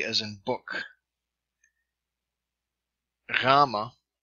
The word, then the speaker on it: gamma: B as in book gamma or gamma a G as in gut Delta D as in